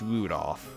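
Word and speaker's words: 留弗夫: That mess of characters is pronounced Rudolph.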